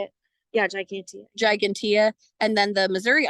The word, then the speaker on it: gigantea: Yeah, gigantea.